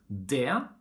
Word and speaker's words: det: We don't pronounce the letter T in the word det, and whenever it's in the neutral definite article of a noun, like for example in huset, bordet, vinduet.